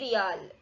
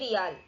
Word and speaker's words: Riyal: Known for oil wealth, this Gulf nation currency starts with R and rhymes with dial. Country Saudi Arabia. A. Oman Rial, B. Bahraini Dinar, C. UAE Dirham, D. Saudi Riyal. Correct answer is option D. Saudi Riyal.